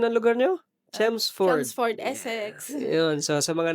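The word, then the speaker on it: Chelmsford: And this is us mula dito sa anong pronunciation ng lugar niyo? Chemsford.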